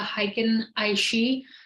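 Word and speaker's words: Heiken Ashi: now okay um so what exactly is the hiking aishi so how can aishi also spelled with an E sometimes so it sometimes spelled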